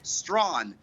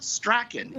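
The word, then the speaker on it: Strachan: mispronounce wellesley yeah well leslie the esplanade commonly mispronounced the esplanade is how some people say it and finally strawn not strakin it is strong so there you go canada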